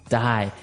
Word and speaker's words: dye: Okay, dye. So it's pronounced exactly the same way as, to die, to not live anymore. Die. But it's spelled differently. D-Y-E.